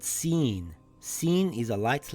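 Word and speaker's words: ش: Sheen is a light letter. Sheen makes a similar sound to the SH in the word shell or the word shoe.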